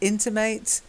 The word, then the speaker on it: intimate: So the stress on the first syllable, in, okay, intimate. And that's the adjective. But to intimate, it sounds strange, I know, when you say it on its own.